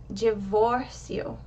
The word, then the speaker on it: divórcio: The O in the middle of that word has the accent, and it's pronounced higher. Your mouth is more open. Divórcio. So the O is given the emphasis, and you want to reduce the volume, reduce the strength of the pronunciation for the last part of the word.